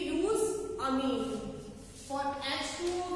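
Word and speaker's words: ammine: अमाइन का spelling होता है AMINE, सिंगल M आता है, ठीक है? इसमें डबल M आ रहा है, इसका नेम होगा अमीन.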